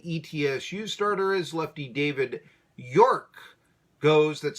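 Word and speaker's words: Yourke: Lefty David York goes, that's spelled actually Your, Y-O-U-R-K-E.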